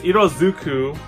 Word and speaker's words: Iroduku: Iroduku, the world colors, or Iroduku, I keep pronouncing it. It's Iroduku, Sekai no Ashitakara, or Iroduku, the world in colors.